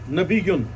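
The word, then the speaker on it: نبیون: ہوتے ہی وہ ہے نبی یون اصل تلفظ ہے نبی یون عربی کا اور اس کا معنی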